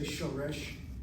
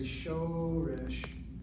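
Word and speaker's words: שורש: I don't say shoresh, I say shoresh.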